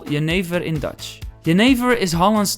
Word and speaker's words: jenever: So in English, some people would say it's pronounced as Jennifer. Unfortunately, it's Jenever, because Jennifer works in the red light district, and that's where we're going now.